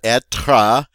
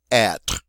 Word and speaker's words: être: And notice it is not être. It is not a two-syllable word. It is one syllable. It ends on the R sound. So please say être.